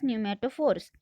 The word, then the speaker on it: pneumatophores: Here P is silent, so you are going to read this word as pneumatophores.